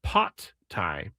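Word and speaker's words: Pad Thai: Oh, I got a uh the real pronunciation, the Thai pronunciation is pot Thai.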